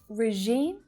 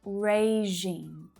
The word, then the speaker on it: regime: how about this one do you say regime or regime the second one is the correct pronunciation regime regime the first syllable sounds like rey so it's not that short unstressed sound regime regime it's raging